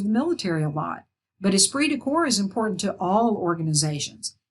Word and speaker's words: esprit de corps: think we've seen cases of that this is pronounced esprit de corps esprit de corps you hear this in terms of the military a lot but esprit de corps is important to all organizations it's a spirit